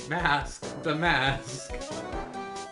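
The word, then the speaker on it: Mask☆DeMasque: the renowned phantom thief mask demascu you got to put the star in there oh it's silent it's a silenced off it's pronounced mask the mask that's good didn't include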